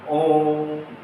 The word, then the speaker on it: ओम: लिखा हुआ तीन अर्थात इस ओ का उच्चारण हमें लगभग तीन गुना समय तक करना है उसके बाद आपको क्या बोलना है मैं बोलना ओम इस तरह से इसका उच्चारण करना होता है ये जो चिन्ह है